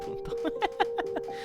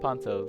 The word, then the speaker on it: Pontos: And then finally Pontos or Puntos. No, not Puntos. Oh, Pontos.